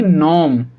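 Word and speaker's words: gnome: इसको हम पढ़ेंगे नॉम। इसको हम क्या पढ़ेंगे? नॉम, क्योंकि यहाँ पर आपका जी साइलेंट है, यहाँ पर जी की प्रोनाउंसिएशन या जी का साउंड नहीं निकाला जाएगा।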